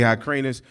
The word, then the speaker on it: Hyrcanus: But before that, during the time of the Maccabees, under John Hyrcanus, we say Hyrcanus, but it's spelled Hyrcanus, forced a conversion of them, which